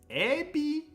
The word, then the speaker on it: エビ: the word here is ebi, I want to say. エビ Ebi. Ebi, the pronunciation. We have to watch out. It's ebi, not ebi. Ebi. Ebi. The accent is on the last syllable.